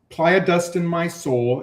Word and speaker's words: playa: I said playa. Well, it's a strange word, right? Playa, because people think player.